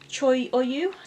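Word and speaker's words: Cho Oyu: so I've got the six highest here ready Troy or you that's how you pronounce it I've done the sky and a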